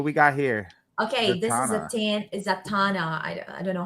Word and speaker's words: Zatanna: Okay, this Zatanna. is Zatanna. I don't know how to pronounce his name.